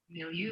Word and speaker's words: milieu: Milieu. Got it. Milieu is how they say it in the dictionary.